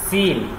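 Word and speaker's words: سين: அப்ப இத பாருங்க இத சி என்றது அல்ல, இது சீனும் சீனும் ஒரு காத்து போற சத்தம் வருதா அப்படி வருதா, அந்த உச்சரிப்போட சீனும் சீன் அப்படிங்கிறோம். சரியா?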